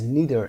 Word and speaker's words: neither: is neither in the question. neither رو میتونید neither هم تلفظ بکنید.